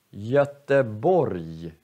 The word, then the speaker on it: Göteborg: Om g kommer sist i ordet, då uttalar vi också som j. Så, vi säger berg, berg, eller Göteborg, eller sorg. Så är g sist, då uttalar vi som j. Berg, Göteborg, sorg.